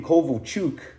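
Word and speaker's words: Kovalchuk: love this guy elia kovock although back then they used to pronounce his name kovochuk and then they changed the way they pronounced it and last one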